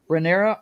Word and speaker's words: Rhaenyra: You guys help me with the pronunciations here. How Targaryen is the last name, but what's her first name? Rhaenyra.